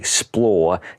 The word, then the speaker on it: XPLR: is part of the XPLR collection. And for the record, XPLR is pronounced XPLR per SRAM.